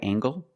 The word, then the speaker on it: angle: Is this a right angle? That's right. This is a right angle. Use the nasal M plus the hard G.